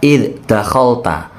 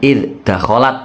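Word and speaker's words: إِذْ دَخَلْتَ: surah alkahfi terus berikutnya ada kata ID dakholta bukan ID dakholat ya Yang betul id dakholta pelajaran yang lain apa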